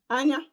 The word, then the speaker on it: anya: Anya. I. Okay. So ana. I'll spell it in English.